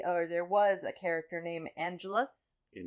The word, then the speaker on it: Angelus: That there was a character named Angelus. Angelus, and so the emphasis on the long syllable.